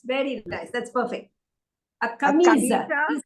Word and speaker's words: camisa: Ah, Now, Camisa. camisa has got 3 syllables. Camisa has 3 syllables.